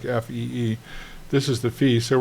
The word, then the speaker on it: phi: before this little guy here is called a fee f it's phi but it's pronounced like fe E.